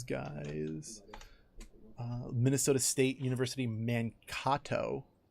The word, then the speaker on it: Mankato: the island these guys is Minnesota State University Mankato like that's how you say it finally and